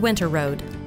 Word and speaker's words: Winterrowd: Ponca City – Richard Winterrowd (pronounced, Winter Road).